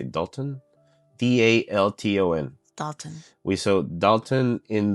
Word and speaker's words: Dalton: D A L T O N Dalton We saw Dalton in the One Piece live action that turned into a bison.